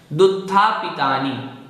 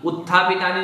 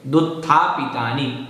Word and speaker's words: दुत्थापितानि: दुत्थापितानि, उत्थापितानि नहीं बोलना, नहीं तो वो संधि हो जाएगी। दुत्थापितानि ऐसा ही बोलना है।